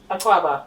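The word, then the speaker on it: Akwaaba: Um, Aquaba, by the way. that's what it pronounced.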